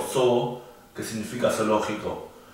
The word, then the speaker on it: Zoo: significa té, justamente, o zoo, que significa zoológico. Ahí se pronuncia un poquito más largo, se pronuncia té, zoo.